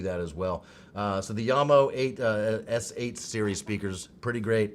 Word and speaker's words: Jamo: If you click Yamo, and in case you were wondering, it is pronounced Yamo, not Jamo.